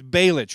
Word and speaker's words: Balich: They say Balich, they say Balich, but it's Balich, right?